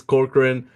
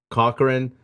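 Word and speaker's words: Corcoran: butchered it last show so it's corkran I I thought I imagined the R so I kept saying Cochran no you you need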